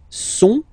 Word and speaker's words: sont: Okay, ils sont, final T not pronounced, ils sont, elles sont.